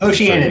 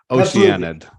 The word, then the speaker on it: Oceanid: I'm not really sure the best way to pronounce that. Oceanid, yeah. Oceanid.